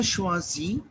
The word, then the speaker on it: choisis: So I will say je choisis, je choisis. Why choisis? Because s would not get pronounced at the end.